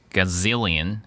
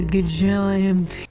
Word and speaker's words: gazillion: okay let's go one gazillion can I can I check IPA gazillion gazilion gazilion Gil gazilion the second syllable sor stressed uh gilan can I